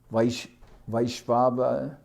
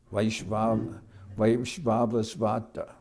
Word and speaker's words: Vaivasvata: The present Manu, who is the 7th, is called Vaishvata. Pardon me. Oh, I mispronounced it before. Vaishvavasvata.